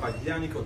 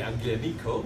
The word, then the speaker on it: Aglianico: Garden branch, we have Aglianico Talento. As Bruno say, do not say Aglianico, but it's Aglianico.